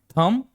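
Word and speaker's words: thumb: शब्द का अंतिम अक्षर बी है। उसके ठीक पहले क्या है? एम है। तो, क्या हो जाएगा यह? साइलेंट। थंब। थंब का मतलब होता है अंगूठा।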